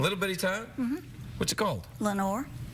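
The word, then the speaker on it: Lenoir: time mm-hmm what's goal Lenore Lenore mm-hmm like in the poem like in yeah the Raven Lenore it's not spelled the same way French its French hmm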